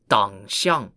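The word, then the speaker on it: Dangxiang: called the tangots or pronounced in chinese as dang spelt d-a-n-g-x-i-a-n-g no one really knows for sure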